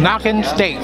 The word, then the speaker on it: Nackensteak: Nackensteak.